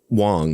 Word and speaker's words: Wang: Wang by the way they said Wong like really that's how they pronounced it in court but I'm not to